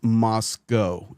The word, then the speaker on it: Moscow: first of all Tucker It's Moscow if you're going to speak you can at least say it correctly sorry I couldn't help